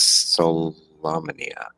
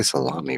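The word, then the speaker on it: Solamnia: panthus capital city of I always mispronounce this solomia yeah I had to say it because I always want to say salami for some reason um sorry no you're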